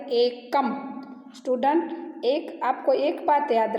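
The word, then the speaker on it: एकम्: तो आपको इसका प्रोनाउंसिएशन एकम करना है, एक म ऐसे नहीं बोलना है, एकम।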